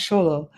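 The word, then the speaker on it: Xolo: In pre-Hispanic burials, many people were buried with a Zolo or Sholo, pronounced Sholo, made of obsidian or clay.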